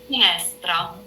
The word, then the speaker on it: finestra: So finestra. And as you can notice, the one that you hear the most is S.